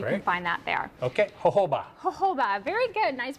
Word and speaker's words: jojoba: Okay, jojoba. Jojoba, very good, nice pronunciation.